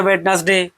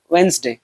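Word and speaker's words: Wednesday: जैसे कि यह हो गया वेट हम लोग पढ़ते हैं वेडनेसडे। लेकिन इसका सही प्रोनाउंस क्या है? इसका सही प्रोन्सिएशन है वेडनेसडे। ठीक है?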